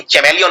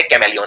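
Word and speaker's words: chameleon: ये बोलते कैमेलियन है, लेकिन H का उच्चारण नहीं करते हैं, लेकिन फिर भी एक H आता है यहाँ पे। तो ये है कैमेलियन, लेकिन चैमेलियन नहीं बोलते, बोलते कैमेलियन है।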